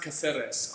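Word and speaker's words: Cáceres: Julian Vittori says it's pronounced Caceres.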